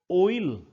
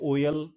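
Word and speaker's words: oil: ओइल, हम इसको बोलते हैं ओयल, ओयल नहीं है ये, दिस इज ओइल, ओ ई और ल, ओइल।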